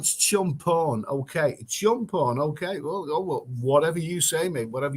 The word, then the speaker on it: Chumphon: the chat skeptic frog it's pronounced chum fun it's called champon okay jump on okay